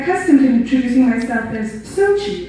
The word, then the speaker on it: Xochitl: like, that's so cheesy, in hopes of overstepping awkward pronunciations such as exochitl, exochitl, and jacques-a-tail. But even with the overly simplistic pronunciation, I still got the annoying so-she and the absolutely intolerable zo-she, and I said so-chi because if I introduced myself as Xochitl, well-meaning people tended to say so chill or that's so chill, like you're so chill.